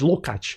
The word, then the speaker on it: Lukács: named George Lukács, or Lukács. George Lukács, that's how his name is pronounced, Hungarian name.